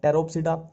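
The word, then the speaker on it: Pteropsida: टेरोप्सिडा में देखो अब वही है, फिर पी साइलेंट चलेगा। टेरोप्सिडा ये आ गया टेरिस,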